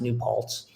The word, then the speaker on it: New Paltz: And I think the SOS triathlon, and it's pronounced New Paltz, is multiple disciplines.